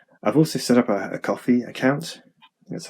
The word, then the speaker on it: Ko-fi: I've also set up a Ko-fi account. That's how you pronounce it.